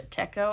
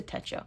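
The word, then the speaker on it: Techo: one because people on people all over Tik Tok especially were calling it a techco and I was like y'all are driving me insane it's a Teto and if you don't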